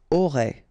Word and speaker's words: auras: Aurait. Alright, then tu auras. Final S not pronounced.